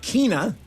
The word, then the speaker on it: Keyna: Uh Kina is the way you pronounce it.